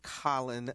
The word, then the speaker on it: Colin: can say it correctly his name is Colin not what did I say I said col apologize Colin Kaepernick very good there